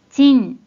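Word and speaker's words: 賃: 일본어 발음 확인해 볼게요 먼저 뜻으로는 발음이 없고 음으로만 진 진이라고 발음해줘요 그럼 이번에는 한자 관련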